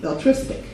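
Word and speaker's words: belletristic: It's spelled B-E-L-L-E-T-R-I-S-T-I-C, beltristic.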